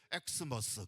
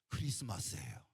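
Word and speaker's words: Xmas: 또 많은 사람들이 표현할 때 엑스머스 그렇게 표현합니다. 엑스머스. X는 영어 알파벳의 X가 아닙니다. 여기서 말하는 X는 할라어. 크리스토의 첫 글자 그리스도예요. 그리스도. 그러니까 우리는 엑스머스라고 읽으면 안 되고 크리스마스예요.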